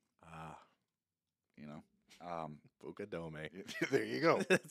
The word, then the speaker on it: Fukudome: I'm facing Kosku Fukudome. Ah, You know, Bucadome.